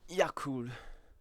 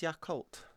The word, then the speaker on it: Yakult: Yes, because the cult part is to do with the fact that it's a bio culture for your stomach that helps your stomach do this stuff.